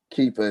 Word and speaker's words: Kepha: Keefa is spelled Kepha.